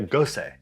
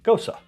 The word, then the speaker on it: Gose: is going to be a gosei or gosa correct pronunciation gosu see there we go i'm working on it